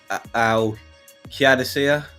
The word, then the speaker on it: Al Qadisiyah: Al Hilal, Al Qadisiyah, that's how you say it.